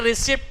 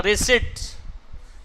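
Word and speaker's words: receipt: अच्छा ये रिसिप्ट नहीं पढ़ा जाता, रिसिट्स, इसमें पी साइलेंट होता है, रिसिट्स। रिसिप्ट नहीं पढ़िएगा कभी भी, रिसिट्स, ठीक है।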